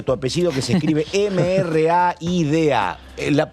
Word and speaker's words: Mraida: Te dicen Maida o Rayda. Como accedía que cada uno lo pueda pronunciar como sienta, nosotros le decimos Mraida. Ah, ¿ves que pero es más difícil todavía. Sí, ¿cómo? Mra. Ah, Bra. Como una B. Como si fuese B, pero con M, Mra.